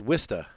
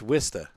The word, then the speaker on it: Worcester: It's Wista. It's Wista. You don't understand. Look what he wrote, and it's pronounced Worcester.